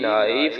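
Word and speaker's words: knife: यहाँ पे के साइलेंट है, एन नून की आवाज देगा, आई आई की आवाज देगा, एफ फे की आवाज देगा, और आखिर में ई साइलेंट रहेगा।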